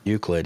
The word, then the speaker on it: Euclid: Is that how you pronounce that? Euclid.